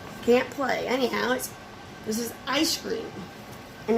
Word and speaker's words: Eyescream: mean we can't can't play anyhow this is ice cream and it's spelled e-y-e screen in that cube in that